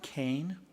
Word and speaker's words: Kane: We're now to reports, and the Academic Senate President, Karen Kane, which I mispronounced at the State of the College and called her Kerr, and I'm only blaming it because Megan Kerr, I introduced her right before Karen Kane.